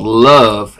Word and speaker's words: LUHve: next one I'm going to do is called love l-u-h-v-e it's pronounced like that and it's about my waitress